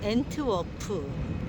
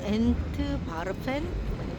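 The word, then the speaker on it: Antwerpen: 앤드워프 성모마리아 성당에 왔습니다 이곳은 앤트워프 또는 앤트 바펜 이렇게 발음 하네요 루벤스 루벤스의 고향 밖게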